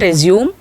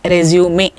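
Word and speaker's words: résumé: Professional Profile so resume you can see the stress falling on E so many students have a problem while using this word the pronunciation generally they go wrong it is not resume it is always resume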